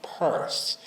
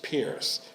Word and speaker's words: Pierce: in Dorchester Lower Mills, the new Mrs. Pierce began to pronounce the name Purse, which of course has continued into the present century. She wanted to be a Mrs. Purse, not a Mrs. Pierce, because the cabinet maker